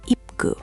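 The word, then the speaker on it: 입구: When the final consonant p up comes before kiyok, it actually softens. So, it sounds more like ip gu. Very subtle, but native speakers will notice.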